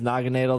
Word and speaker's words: Naganadel: I believe it is Naganadel. That's how they say it in the anime, at least.